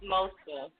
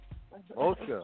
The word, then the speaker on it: Mosca Flux: Now, in terms of introduction right there, He said it wrong. It's Mosca. Yeah, they almost okay, had it though. We got to curve it a little bit. Mosca. Okay, it's Mosca. I know now. Mosca. Proper pronunciation.